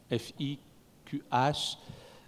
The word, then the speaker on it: fiqh: Alors quand je lis parfois certains ouvrages écrits en français, c'est le fiqh, F-I-Q-H, puisqu'on ne peut pas prononcer le ha, donc fiqh.